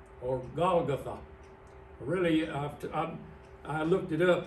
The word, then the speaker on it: Golgotha: of a skull, which in Aramaic is called Golgotha, or Golgotha. Really, I looked it up, and the correct pronunciation is Golgotha.